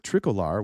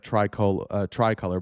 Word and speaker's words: Tricolor: So some of these cars, when they went through with Tricolor, which looks like tricolor, but it's pronounced Tricolor, when they got into